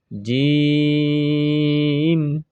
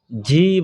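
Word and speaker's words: ج: এরপরে জিম জিম জিম জিম। ঝি বলা যাবে না, এটা হলো জিম। যেমন যাই বা শিক্ষক ছাত্রকে ডাক দিল আব্দুর রহিম, তখন ছাত্র বলবে জি হুজুর, এ জি জিম জিম।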